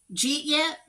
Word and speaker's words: jeet yet: But anyway, pronounced jeet yet. The question is often given to friends or family members to mean, did you eat yet?